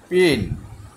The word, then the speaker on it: per: পিন মানে আলপিন আর কি, এই যে আমাদের চিকন চিকন সূচের মতো থাকে সেগুলিকে বলা হয় পিন। বানানগুলি প্রায় কাছাকাছি, আছে, একটার মধ্যে নাই।